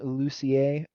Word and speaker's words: Lussier: I think that's how you pronounce it, but also known as, the Oregon AD. How you doing? You're also muted. Oh, there Fantastic, you go. buddy. No, yeah. You did pronounce that correctly, so kudos.